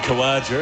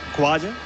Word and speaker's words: Khawaja: While we're at it, Usman Khawaja, as they say in Australia, Usman Khawaja. Usman Khawaja. Khawaja. As they do in Pakistan.